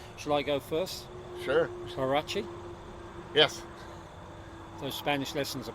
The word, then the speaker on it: Huarache: I have a horrible feeling that, despite my best intentions, I pronounce the H at the start of that word when everyone knows that the H in Spanish is always silent, and that includes the Spanish spoken in Mexico.